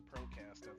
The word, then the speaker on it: Procazt: So, it's still pronounced Procast, not Procast because Wolf was making such a